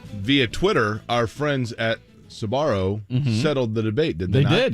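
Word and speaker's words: Sbarro: Family's last name is s-b-a-r-o pronounced sabaro some people elongate the Su and make it sabaro but no the sir gets truncated by the bar it might look sound like Sparrow it doesn't say that that last part you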